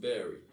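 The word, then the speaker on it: Barre: and this is um spelled b-a-r-r-e oh pronounced berry right next door to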